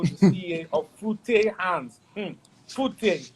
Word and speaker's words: Fute: Fute. That's how I pronounce it. So anyway, correct me if I'm wrong.